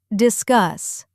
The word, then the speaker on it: discuss: Focus on think, discuss. Stress on the second syllable, discuss, further, that R sound.